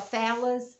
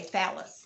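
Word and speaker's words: Fallas: but look it's f-a-l-l-s somebody told me that i'm pronouncing it wrong but as american y'all so i say phallus somebody said it's something else follow us or something i say phallus f-a-l-l-a-s yes f-a-l-l-a-s somebody told me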